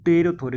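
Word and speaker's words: pterothorax: थोरेक्स इनको हम लोग रोथर के नाम से जानते हैं देखो यहां पर पी साइलेंट है थोड़ा ध्यान से पढ़िए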